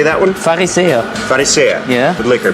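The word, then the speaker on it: Pharisäer: Farisea.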